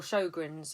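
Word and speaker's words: Sjögren's syndrome: It's S-Y, Sjogren's syndrome, or Sjogren's, as it's sometimes said. I think that's actually how they properly say it.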